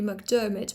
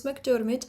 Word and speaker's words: McDiarmid: and it would be McDiarmid, but it's McDiarmid because this is the Scottish pronunciation which is a rhotic accent.